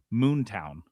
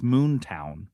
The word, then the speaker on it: Moonton: Like Moontown, you're saying it wrong. You're saying it wrong. It's Moontown. There's a hard W.